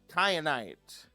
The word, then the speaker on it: kyanite: Then we have kyanite. This is spelled like cyan with a K.